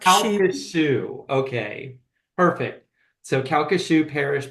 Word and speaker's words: Calcasieu: It's Calcasieu, like shoe. Calcasieu.